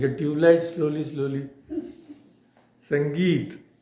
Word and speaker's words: sangeet: So sangeit word is formed of three syllables. Sum plus g plus t.